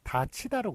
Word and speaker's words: 닫히다: 그 발음은 요게 디귿이 넘어가면서 티읕이 되고 그 다음에 이 앞에서 구개음화가 되기 때문에 다치다로 그렇게 발음이 되죠.